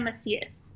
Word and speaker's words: Macias: last name hi um my name is macias let's see yes okay i want to make sure i pronounce that right sorry and you're actually our